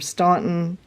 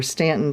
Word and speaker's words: Staunton: To get from Staunton, or Stanton, depending on how you pronounce it, to Charlottesville is only about 45 minutes.